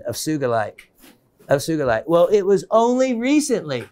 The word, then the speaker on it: sugilite: did was research and it was research that led me to the correct pronunciation of sugarlight and then there i